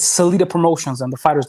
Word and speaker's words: Salita: life which we're going to hear about called salida productions which is now the president he's got a whole uh crew of boxers now including um claris shields that i pronounce her name properly it's selita promotions and the fighter's name is clarissa shields